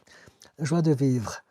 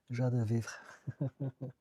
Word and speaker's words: joie de vivre: Joie de vivre. Thank you for pronouncing my profile name correctly. It's easy, I speak French. Joie de vivre.